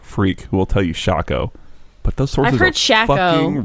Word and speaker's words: Shaco: right well I hope was it Shaco like taco was the argument that I heard I could see that Shaco doesn't make much sense for how it's spelled but yeah just a shaker like Waco you're